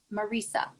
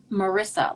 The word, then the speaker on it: Marisa: I think it's Marisa or Marisa. Marisa? Okay, not Marissa, like one of my It's therapists.